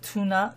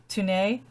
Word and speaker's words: Tone: is um gosh it's it's spelled tone but it's actually pronounced tuna tuna tuna tanay like tuna like tuna